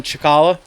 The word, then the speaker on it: Cicala: It's all at ChickHolla. ChickHolla. ChickHolla, that's how it's spelled.